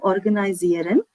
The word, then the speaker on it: organisieren: Ihr könnt das Büro organisieren.